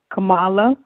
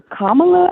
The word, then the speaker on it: Kamala: First point is Kamala, or Kamala, I think that's how they say her name.